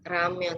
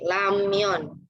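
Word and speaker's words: 라면: Kayak ramyon, itu bacanya bukan ramyon tapi lamyon. Kita pakai L ya, karena kan di awal.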